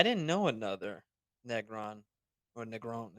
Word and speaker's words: Negron: Yeah, I didn't know another Negron or Negron. It depends on how you want to pronounce it. Negron, And Negron. You gotta yeah, roll that R, on brother.